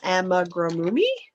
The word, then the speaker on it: amigurumi: Because it's an amigurumi. I think people just tune in to watch me mispronounce everything.